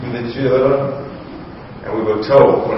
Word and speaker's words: Louverture: We named the correct pronunciation, Louverture.